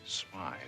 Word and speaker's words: Smith: old cop look Mr Smith smile it is pronounced smile all right Mr smile